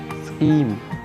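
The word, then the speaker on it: scheme: तो next word है हमारे पास स्कीम। स्कीम, इसको स्टीम नहीं बोलेंगे, स्कीम, एच साइलेंट है।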